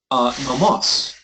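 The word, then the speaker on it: νόμος: It could also be the other nomos. Right? You have nomos with the accent on the penult, right? And you have nomos with the accent on the ultima. The difference in meaning is law and feed.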